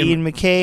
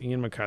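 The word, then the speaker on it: Ian MacKaye: I was looking it up because I know he doesn't like it when people do it, but it is Mackay. So it's Ian Mackay.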